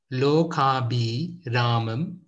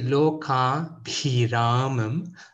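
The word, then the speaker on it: లోకాభిరామం: So most people will say Loakaabhiraamam, but that's not entirely correct. We need to say Loakaabhiraamam, Loakaabhiraamam. So people tend to have a challenge with that.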